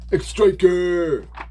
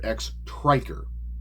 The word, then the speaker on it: X-Triker: on lead guitar, stock X-Striker. I'm sorry, not X-Striker, X-Triker. That's how it's spelled, it's X-Triker.